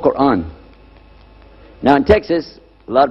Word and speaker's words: Quran: it's when you introduce the Quran it's called Quran now in Texas a lot of people mispronounce it they call it Coran but it's Oran but regardless of what you